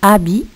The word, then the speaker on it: habit: Alors le mot habit, il a une lettre au début qui n'est pas prononcée, c'est le H. Il a une autre lettre à la fin qui n'est pas prononcée aussi, c'est le T. Alors les lettres muettes dans le mot habit sont le H et le T.